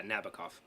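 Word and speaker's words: Nabokov: you say it yeah nabakov nabakov's russian tends to be the second syllable i think interesting so yeah how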